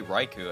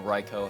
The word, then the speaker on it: Raikou: legendary dog trio specifically raiku actually or reiko however you want to pronounce it it was when i